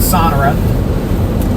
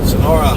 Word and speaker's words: Sonora: Bracken Ridge, you got a storm heading your way with hail and strong wind farther southwest of I'm going to mispronounce it again. Sona Sonora is moving off to the northeast.